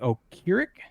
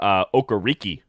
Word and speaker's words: Okereke: So I guess their biggest signing was Bobby Okereke from Indy. Okereke. Okereke. Okay. I am terrible at pronouncing names.